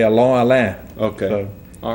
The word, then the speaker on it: Allain: No, it's Allain. Okay. Old French family name. You know, a lot of people say Allain.